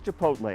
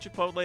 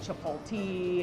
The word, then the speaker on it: Chipotle: couldn't pronounce the name people tend to switch the L around and so they call it Chapel T heard of Tripodi there's